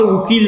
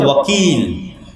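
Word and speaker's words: وكيل: যে ওকিল বলা হচ্ছে একই জিনিস উচ্চারণে পার্থক্য তো আল্লাহ বলছেন তোমরা আমাকে উকিল বানাও যদিও সঠিক উচ্চারণ হচছে ওকিল তোমরা আমাকে ওকিল বানাওলা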